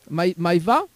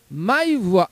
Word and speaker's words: Maïwa: alors comment il prononce ce prénom Maïva? Alors mon Maweda, non? se prononce Maïwa.